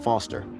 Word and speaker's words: Foster: with pickle it does I'm Foster I'll remember that easy because your name rhymes with fossil and you're old thanks